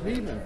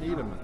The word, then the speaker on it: Niemann: It's Niemann, not Niedemann.